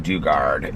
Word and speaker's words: Dugard: I guess it's ji I thought it was J duard I guess it's j she pronounces her name Dugard in the book so